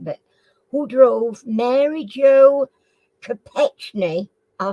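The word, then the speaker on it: Kopechne: s dwarves okay okay who drove Mary Joe ketne to her death in 1969 I'm not sure if I pronounced that right but who drove Mary Joe capet I spell it for you k o p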